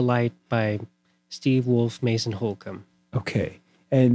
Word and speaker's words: Holcomb: by Steve Wolf, Mason Holcomb. Okay. And that's Holcomb, pretty easy to spell, but I believe that's Holcomb. B. B. Yes. Okay, just so you know, there's a silent B in that name.